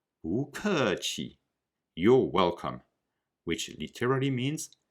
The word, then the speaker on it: 不客气: The rule is when 不 is followed by a fourth tone or falling tone syllable, 不 becomes a second tone or rising tone syllable. We don't say 不客气, but 不客气.